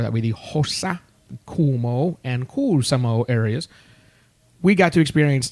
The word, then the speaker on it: Kuusamo: in the Kuumo and Kuusamo and Hossa area. Those are all proper pronunciation of Finnish towns, by the way. Of course. They like lots of letters repeated, and you must pronounce them all.